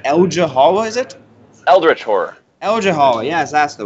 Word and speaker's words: Eldritch Horror: Lovecraft universe, and that is, I think I'm pronouncing this right, Eldritch Horror, is it? Eldritch Horror.